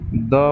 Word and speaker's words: the: Definite article के अंदर THE द word आता है, जिसे हम द भी प्रोनाउंस करते हैं और दी भी प्रोनाउंस करते हैं।